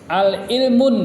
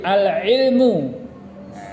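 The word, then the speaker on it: العلمُ: Alif lam di situ, kita bacanya al-ilmun. Nah, tidak boleh ya. Tidak boleh. Jadi al-ilmu. Nah, tidak boleh ditanwin. Jadi bacanya al-ilmu. Jangan dibaca al-ilmun. Al-ilmun nafi'un. Nah, salah. Jadi yang benar al-ilmu nafi'un.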